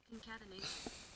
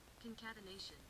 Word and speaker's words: concatenation: Concatenation. Concatenation.